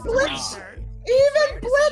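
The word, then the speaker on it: Blitzø: The O is silent, jackass. Sorry. Dude, even Blitz says that.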